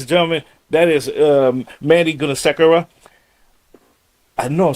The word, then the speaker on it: Gunasekara: Ladies and gentlemen, that is Mandy Gunasekara. I know I'm saying it wrong again, but I'm gonna get it. It's Gunasekara.